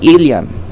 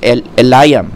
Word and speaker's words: Eliam: this bat shiba the daughter of ilam or in some pronunciations eliam whatever the wife of